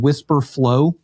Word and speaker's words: Wispr Flow: is a tool called Whisper Flow. I started using this recently. They spell it funny. It's WISPR flow.ai.